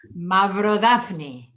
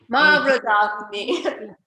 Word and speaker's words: Mavrodaphne: Aglaya, tell me how you pronounce that. Daphne what? Mavrodaphne. Mavrodaphne.